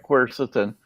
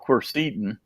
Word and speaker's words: quercetin: know I've heard that you actually pronounced the right quercetin and I used to call it cursed eaten but Oh nobody ever